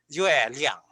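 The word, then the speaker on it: 月亮: You can have these two characters, but again, each syllable is a separate character, and therefore, the pronunciation of these two characters is yue liang, yue liang, yue liang.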